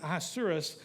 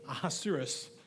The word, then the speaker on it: Ahasuerus: King Ahasuerus sat on his royal throne in Susa, the